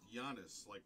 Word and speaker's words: Giannis: That's why it's pronounced Giannis, like a Y, right?